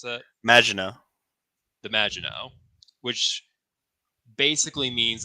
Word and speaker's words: Maginot: the name of the ship is the how you pronounce that? Maginot.